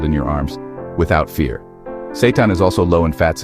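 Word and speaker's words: seitan: Yes, the name is Satan, pronounced Satan.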